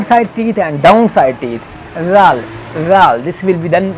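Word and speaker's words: ر: When pronunciation place is this, like when the front corner of tongue will touch to the root of very close to the root side, to the upside, very close to the root of front corner of front teeth, upside front teeth, ra, this will be pronounced ra, ra. It has special sound, ra.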